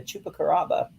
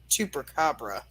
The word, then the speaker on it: chupacabra: called Bigfoot Mothman and the chupacaraba chupacabra not whatever you said yeah I just totally said it wrong which means goat sucker